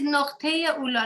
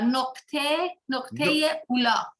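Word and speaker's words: Nuqṭiy-i-Úlá: Yes, it's Noqteya Ula. Noqte, that means the period. Point, the dot. Point, yeah, point. Ula, that means very high. Primal, the high. So yeah, Noqteya Ula.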